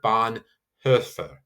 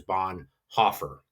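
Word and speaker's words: Bonhoeffer: Lutheran reformer of the second world war dietrich bon hur. So you have that would be that technical pronunciation of her. Um that is very strange and we just say usually most times bon hofer spelled o e and so we just kind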